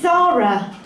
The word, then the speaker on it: Zahra: Hello, yes, my name is Zahra. You know, like the shop. But unlike the shop, my name is spelt Z-A-H-R-A. And that's because it's an Arabic name, and my Arabic family pronounce it Zahra.